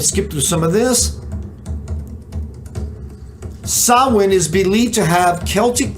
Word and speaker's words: Samhain: events in Irish mythology happen or begin on Samhain. Excuse me, that's how it's pronounced.